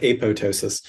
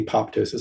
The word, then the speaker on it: apoptosis: feroptosis yeah yeah it's like apotosis um so uh pronouncing the second p apoptosis so feroptosis it